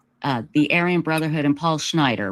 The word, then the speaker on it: Schneider: We're talking about the Aryan Brotherhood and Paul Schneider, right? Is that how you pronounce his name? Yes, okay, Schneider.